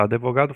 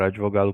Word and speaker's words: advogado: Quando tentamos falar advogado com D estritamente mudo, nossa boca naturalmente insere uma pequena vogal para ajudar na transição das letras. O D avogado. Aí, consegui falar com D mudo. Identificando o fenômeno de epíntese, essa vogal de apoio faz com que a pronúncia real da palavra seja advogado ou advogado. Esse fenômeno fonético e de inserção de som vocálico é chamado epíntese.